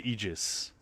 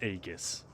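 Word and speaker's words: Aegis: Well, go and talk to the NPCs at K's Eegis and you'll hear them say Eegis.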